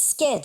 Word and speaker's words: scared: a body I mean South Africans don't pronounce the r this is what I'm weird case but like he's skar it's like South African American